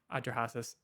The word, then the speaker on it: Atrahasis: And the 7 tablets of creation, the Epic of Atrahasis as well, is also there in the Old Testament. Several other Atrahasis is how it's normally pronounced, and also same deal, same Near Eastern flood myth.